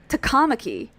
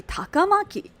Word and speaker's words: Takamaki: is that um it they say like takamaki because that's based on the the second syllable stress but it should be takamaki or like kitagawa or however he says it it's a Kagawa it's so so easy it's the same pattern low high high low gawa you were never